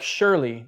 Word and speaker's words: surely: down by the seashore the s and the SH is confusing and many times in English like surely there's no SH but it makes that that SH sound so it's a fun